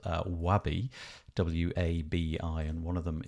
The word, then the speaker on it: Wabi: One of them is called Wabi, W-A-B-I, and one of them is called Way. I think I've pronounced that correctly.